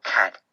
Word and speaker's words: Kat: It is a fact that her name sounds like the first syllable of words like catastrophe, cataclysm, catatonic. In other words, Kat is a walking disaster